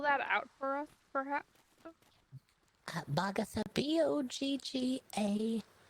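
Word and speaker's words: Boggatha: writing something about this sure my name is bhagatha and this is my brother parker we're twins could you spell that out for us perhaps bhagasa b-o-g-g-a-t h a vaga and how do you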